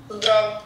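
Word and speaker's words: Zdravo: Zdrav.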